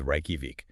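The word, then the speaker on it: Reykjavík: So rakovic which people always struggle with becomes raiki. That j sound becomes a y precisely.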